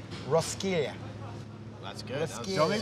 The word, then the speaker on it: Roskilde: Which I think is actually pronounced Roskilde. That's good. Roskilde. Don't make me say this on the mic tonight, and then I get booed off stage. It's pronounced Roskilde.